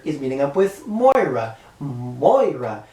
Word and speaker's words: Moira: Moira. I keep saying Mariah McTaggart. That's not the correct way to say her name.